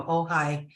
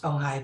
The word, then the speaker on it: Ojai: But there was one point we were, there's a road here from Ojai. It's pronounced Ojai, by the way.